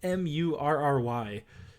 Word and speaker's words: Murray: How do you pronounce Jamal Murray? It's Murry.